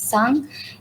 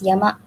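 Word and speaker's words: 山: And some examples include the character for mountain, where the onyomi is sang, and kuyomi is yama.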